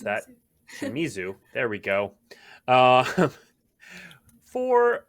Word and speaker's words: Shimizu: another in our artist series special guest yuko shimazu wow i mispronounced that shimizu there we go uh four uh borderless cards